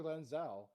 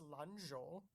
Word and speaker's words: Lanzhou: oh sweet, thanks for Lan Zhao. Yeah, Landau. Lanzhou. It's Lanzhou. Gotta carry on the tradition of mispronouncing everything. Yeah.